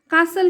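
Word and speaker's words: castle: इन में कासल महल कासल का T silent है इसलिए हम इसे कासल पढ़ेंगे हिज यानी उसकी वाइफ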